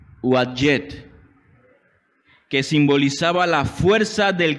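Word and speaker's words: Uadyet: Se escribe U-A-D de dedo, Y-E-T de tomate. Uadjet.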